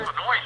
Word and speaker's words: Noyes: I was talking to Walter Nose. Do you know this man? Walter Noyes, I know. Walter Noyes. Okay, I got his name wrong.